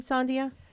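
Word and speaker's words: Sandija: again french b-a-y-o-t diego and it rhymes from latvia and i actually say this sandia from latvia it's a little song next time you'll hear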